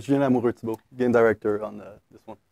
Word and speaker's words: Lamoureux: Julien Lamoureux, game director on this one.